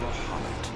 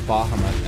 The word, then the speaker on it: Bahamut: emerg the Elder Primal baham who Unleashed his Fury upon the real as a kid I always pronounce it Bahamut and then come to find out everything pronounced as it baham instead now the devastation